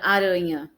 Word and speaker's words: aranha: As paroxítonas são aquelas que são acentuadas quando a palavra é mais forte, a sílaba mais forte é a penúltima. Por exemplo, na palavra aranha, urã é mais forte, né?